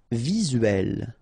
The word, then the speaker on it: visuel: Visuel, remember it's E here and L, uel, visuel.